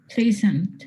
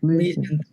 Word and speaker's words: pleasant: So, how do we say we pronounce this word? Characterizes. Characterizes. Then, what about this one? Temperature. Temperature. Temperature. This one? Pleasant. Pleasant.